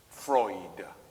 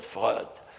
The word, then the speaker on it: Freud: written but interference so he writes it as a french could write it in order to pronounce it freud and not and not fraud well you are asking